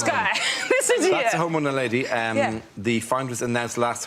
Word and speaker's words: Homo naledi: The Homo naledi, or naladi. Nadali. Homo nadali, yeah. Nadali. Sorry, Homo naledi.